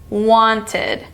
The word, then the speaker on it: wanted: what sound and why our first word is wanted wanted this is the ID sound because the root word want ends in t wanted wanted it's also the new syllable sound wanted wanted next one